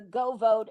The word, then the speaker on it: GeauxVote: Now, I would strongly suggest to all of your viewers that they download the Go Vote app on your phone or your Mm-hmm. computer. It's spelled GEAUXVOTE.